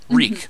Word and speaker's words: Reek: So, now we got, as I mentioned, Fyon Reek, I'm sorry. No, his name is Reek. It rhymes with Meek.